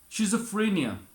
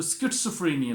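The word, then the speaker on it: schizophrenia: शिज़ोफ्रेनिया, इसे SCHIZO है, तो स्किट्सोफ्रेनिया भी कहते हैं, स्किट्सोफ्रेनिया. जैसे बहुत सारे हम जो है वो हमारे गलत आम हो चुका है शिज़ोफ्रेनिया, स्किट्सोफ्रेनिया.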